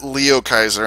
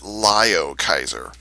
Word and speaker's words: Liokaiser: If you listen to the original Japanese version from Transformers Victory, they pronounce it Lio Kaiser.